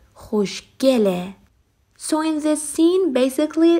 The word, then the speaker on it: خوشگله: Generally speaking, usually the word asked for Persian verbs turn into he and pronounced as e, خوشگله.